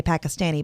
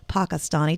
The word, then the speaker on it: Pakistani: say that as in here we say pakistani but the proper pronunciation is pakistani just so you know